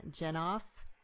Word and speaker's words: Jenoff: and Caroline and our guest today is Pam jennife author of the Lost Girls of Paris and am i pronouncing your name correctly yeah okay great so